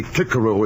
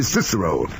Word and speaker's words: Cicero: nonsense in my opinion making boys say clicko at school when for the rest of their lives they'll say Cicero if they ever say it all and and